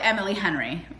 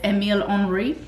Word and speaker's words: Emile Henry: I call it Emily Henry. That's not how it's even spelled. But apparently it's Emile Henry.